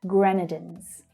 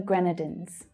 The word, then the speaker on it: Grenadines: Gren is the stressed syllable there. Grenadines. St. Vincent and the Grenadines.